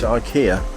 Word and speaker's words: IKEA: shop that is in Sweden they pronounce it icky icky icky icky it's not here it's IKEA yeah this work we've